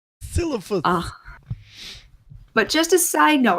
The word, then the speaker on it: Silithus: I always say Sithilus, but that's not how it's actually pronounced. Silithus.